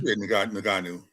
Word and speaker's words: Ngannou: And still that one, it looked like could N- am I pronouncing his name right, Steve? Ngannou. Ngannou?